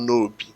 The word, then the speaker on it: Nob: It's, even though in English it's spelled nob, N-O-B, it's actually pronounced nobi.